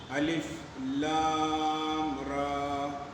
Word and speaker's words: الر: کے نہیں پڑھیں گے، الف لام کو علم نہیں پڑھیں گے، الف لام کو الر نہیں پڑھیں گے، اللہ نہیں پڑھیں گے، بلکہ ہر حرف کا تلفظ الگ الگ کیا جائے گا۔ اور جس طرح سے